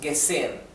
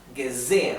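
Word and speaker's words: gesehen: tanto esto es guzen y también la H entre dos vocales es muda en alemán no se pronuncia es muda pero sin embargo marca bien claramente las dos sílabas de estas vocales Entonces no decimos gesen decimos zen gezen aquí claramente hay dos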